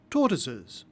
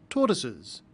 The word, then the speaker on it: tortoises: look like Christmas trees tortoises notice that the final s is pronounced Z tortoises the final s is